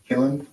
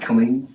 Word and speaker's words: Killen: Killen, not Killeen.